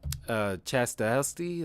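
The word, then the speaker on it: Stahelski: But I thought Matrix 4 was solid, and yeah, I mean, and of course this movie was directed by Chastasty. That's how you pronounce it.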